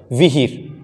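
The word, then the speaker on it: विहीर: तो सही शब्द है विहिर, विहिर, व में छोटी ई की मात्रा और ह में बड़ी ई की मात्रा और र, विहिर।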